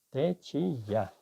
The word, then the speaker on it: течія: Течія чи течія? Течія.